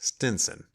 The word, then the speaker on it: Stevenson: house of a widow of the name of stevenson which she pronounced stinson she had by her